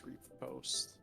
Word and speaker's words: riposte: A parry and a riposte. Riposte? I don't remember how to pronounce that. Yeah, it's repost.